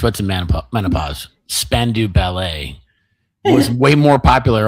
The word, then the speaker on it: Spandau: Spandau Ballet. What the This is how Americans pronounce it, Brendon. I didn't say spam. I said span like with an N.